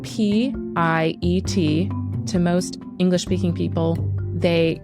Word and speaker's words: Piet: Just so you know, Piet's first name is spelled P-I-E-T.